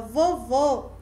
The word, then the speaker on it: vovô: Observe que a palavra vovô ela é mais fechada e a palavra vovó, o vó é aberto.